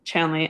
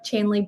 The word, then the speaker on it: Chandley: Yeah, so Instagram is Chandley_Green, spelled like Chandler, but a Y instead of an R. And then Facebook, Chandley.